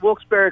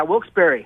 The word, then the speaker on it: Wilkes-Barre: how to pronounce that why do they spell it bar it's named after two gentlemen John Wilkes and Isaac Barry John Wilkes the guy